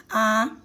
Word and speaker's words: à: outro lado e nós quando pronunciamos aquela aquele a que tem o acento grave que tem a crase nem o que a gente pronuncia dois age então nós fizemos assim eu vou à praia Uai nem o caidinho ó vou à praia você você prolonga esse a Ok por quê que